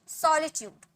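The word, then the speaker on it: solitude: अकेलापन, सॉलिट्यूड, सॉलिट्यूड, श नहीं, सॉलिट्यूड, ओके।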